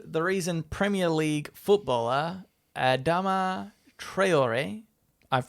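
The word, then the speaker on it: Adama Traoré: today i learned the reason premier league footballer adama treyori i've pronounced that correctly don't you worry uh slaps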